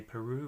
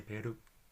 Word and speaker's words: Peru: R in it and rather than say Peru we need to say pair two tapping at once to pair - alright so double